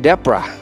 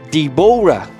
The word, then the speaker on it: Deborah: But in English, you pronounce Deborah. But the first time I see the word Deborah, I pronounce it Deborah because that's an O, but I didn't know that that's a silent O. So it's not Deborah.